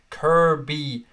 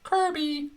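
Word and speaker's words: Kirkby: I'm going to pronounce it correctly in case that arsehole from yesterday is watching. Kirby. Kirby. Much like Furby, but it's Kirby.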